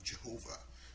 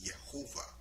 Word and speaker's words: Jehovah: in terms of Yhovah Jehovah which we people that call her Jehovah mean it's actually the word actually say Yhovah so the J is silent so for example Yhovah